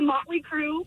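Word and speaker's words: Mötley Crüe: Mariah, the band's name rhymes with Schmotley Schmoo. Ooh. Okay. The Motley Crue.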